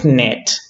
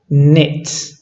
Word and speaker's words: knit: a word like net we don't really pronounce the K so we don't say net but we pronounce knit right knit knit and